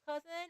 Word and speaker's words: CUZN: yesterday I redbuted it as a member of Cousin, a Pacific V2 group and collective.